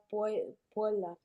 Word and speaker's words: puella: Try and say Puella. You're kind of gluing the U and the E a little bit. Puella. Puella. If you've seen 101 Dalmatians, think of Cruella de Vil. Cruella. Puella.